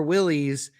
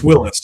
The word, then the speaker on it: Willys: Newburn says, "Is it pronounced Willis or Willies? It's a big argument." And you are correct, New Willis.